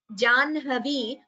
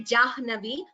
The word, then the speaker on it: Jahnavi: Janhavi, I have already explained, we pronounce it as Janhavi, and we do not say Jahnavi, but Prahlada is pronounced as Prahlada only, the way we taught in class. Janhavi, Banhihi, Brahman, these are some of the words where we pronounce the half letter first.